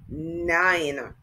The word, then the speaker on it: nine: the n nine and the e does not speak it is silent so by the end